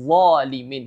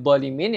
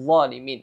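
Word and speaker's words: الظالمين: Jadi cara bacanya qala la yanalu ahdil zalimin, bukan ahdil zalimin, ya, ahdil zalimin, ya.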